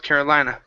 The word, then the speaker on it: Carolina: was almost in North Carolina ok very good let's practice that last word watch her are instead of Carolina carolina carolina there we go nice and American right so in north